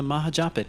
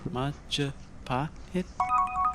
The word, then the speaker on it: Majapahit: It's the Mahajapit, Majapahit, Mapajahit, Mahapajit. You're pronouncing it wrong. Majapahit?